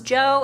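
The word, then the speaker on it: Zhou: Actually, I think some of the pronunciations of ancient Chinese names like I think Z H O U becomes Joe and I was just saying it wrong.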